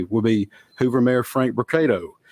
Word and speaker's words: Brocato: the podium today will be Hoover mayor Frank brocato spelled b-r-o-c-a-t-o and Hoover Police Chief Nick durzis spelled d-e-r-z-i-s you may also hear from Lieutenant